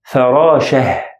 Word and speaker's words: فراشة: The second one, فراشة, فراشة. Again, I pronounce it as H sound or ه sound because both of them are consonant.